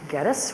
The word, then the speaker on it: Geddes: And I'm going to start off by introducing our first panelist, Chris Geddes, rhymes with lettuce, VP of Global Sales, Mobo Vivo.